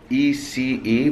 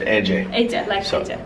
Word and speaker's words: Ece: All right, so my dear friend, her name is spelled E-C-E, but in Turkish, the C is a J, right? Yes. So it's Ece.